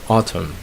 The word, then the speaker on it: autumn: You have hymn, you have column, and then you have autumn, the season.